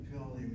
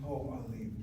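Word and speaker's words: פְּעָלִים: Pi'alim, yeah. Po'al, pi'alim. This is the plural in the word verbs. Pi'alim. Not po'alim, but pi'alim, like boker, bikarim.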